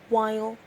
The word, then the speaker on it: while: following words honesty campaign while and fight and the answer is we have the h in honesty the g in campaign the h in while and the gh in